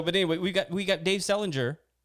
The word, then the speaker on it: Selinger: It's Dave Sellinger, just like JD Salinger, a catcher in the rye.